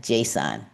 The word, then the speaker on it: JSON: They often use a format called, say it like JSON. Like it tells you how to actually pronounce some of these acronyms that we don't know.